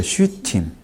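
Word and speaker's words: שיטים: 있어요 아카시아 시니 아 시팀이라고 읽기도 해요 시팀 팀이 아니고 시팀 아카시아나 여기 아카시아 그런게 아니고 그쪽이 아카시아 하는 그쪽 지역에 팔레스틴 지역에 아카시아는 나무를 쓸 때 팀이라고 써요 시트 시타 아라고 써 있네요게 팀이란 말은 우리나라 말인데 이게이 붙으면 음이 되거든요 그거는 복수를 얘기하는 거예 항상 여기서는 타라고 돼 있어요 시타 근데 시타라 안 읽고 시이라고 읽네요 복수를 지금 얘기하는 거죠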